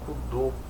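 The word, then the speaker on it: Kudo: Eh, tem também o rapaz do Cudô. Desculpa, gente. É cudô mesmo. É, chama cudo, mas é cudô porque a pronúncia é ó, judô e karatedor, e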